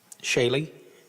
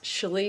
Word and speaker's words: Shal: Shaye Shal Shal I'm sorry. Yes, my name is pronounced Shal, but I'm very used to it having numerous pronunciations, so no worries there, ma'am.